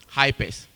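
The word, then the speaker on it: HPERS: Um I'm representing the department of health, physical education, recreation and sports which is normally pronounced as hypers but hps.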